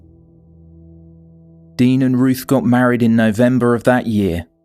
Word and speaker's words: Rochelle: The pair had a one night stand which resulted in pregnancy — they had a daughter, Rochelle (Pronunciation: Ror-shell).